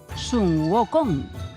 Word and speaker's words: Sun Wukong: I a partir d'aquell dia, se'l va conèixer com a Sun Wukong, que es pronuncia Son Goku.